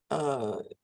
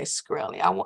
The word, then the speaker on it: Shkreli: And for the record, I keep saying your name wrong. Shkreli. Okay, Shkreli. I keep wanting to separate that.